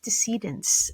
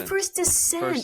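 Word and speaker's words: First Descents: a charity called first decedents um I'm not saying it right deciding how do you say it dissent like dissent into madness oh first descent I'm so sorry I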